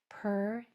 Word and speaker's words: pertinent: It might sound like a schwa, but I'm trying to pronounce it with a clear sound at the end. Pertinent.